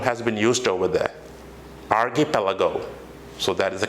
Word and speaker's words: archipelago: This term has been used over there, archipelago. So that is the correct pronunciation of that one.